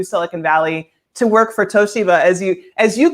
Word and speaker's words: Toshiba: I moved to Silicon Valley to work for Toshiba, as you correctly pronounced it. No one else, of course, Americans always pronounce it Toshiba, but the Japanese and the company themselves pronounce it Toshiba.